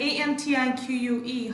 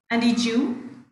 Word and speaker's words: antique: Okay, Ozymandias and Antique. How would you pronounce? Antiqueu? Is that so? Antiqueu? Antique. Yeah, of course, antique, right? Not Antiqueu.